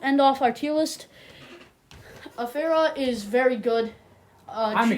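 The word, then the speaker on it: Afeera: Afuria? Afera.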